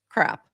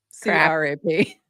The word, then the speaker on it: CRAP: the token handle is crap. C-R-A-P. Which is just perfect. I think it's pronounced C-Rap, no? C-Rap, yeah, it's C-Rap. We have pronunciation issues here. I call it crap, but it's C-Rap, yeah.